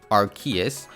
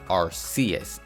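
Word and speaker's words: Arceus: doozy for Pokemon fans so obviously I pronounce it arus but it's also commonly pronounced as Rus and this split in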